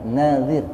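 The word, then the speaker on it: نذير: Ini berarti bacanya kalau gini annadir panjang nanya. Nadir. Sebab kalau panjang dnya annadir itu artinya pemberi peringatan. Basyir wa nadir itu bahasa Arab salah membacanya saja, salah membaca panjangnya saja maknanya bisa berubah.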